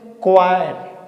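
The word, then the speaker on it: choir: Silent होगा। इसे क्या बोलेंगे? क्वायर।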